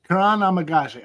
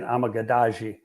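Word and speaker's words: Kiran Amegadjie: guy who's name I've been practicing how to pronounce it is Kanan Kuran amagazi Kanan amagazi I know I was saying it wrong too I was saying amagi yeah I was adding the syllable in there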